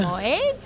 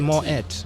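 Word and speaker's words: Moët: Is it Moet? So it is Moet, M-O-E-T. You say it is the Moet.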